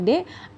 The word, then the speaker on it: で: oke lalu yang berikutnya ada partikel D ya ini dibacanya adalah deh kalau diterjemahkan ke dalam